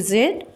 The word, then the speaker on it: Z: Zed or Z zed. You can say Z American. Z American. Zed British. You can say you can pronounce You can go that letter. You can pronounce this letter. You can pronounce this letter Z in two different ways.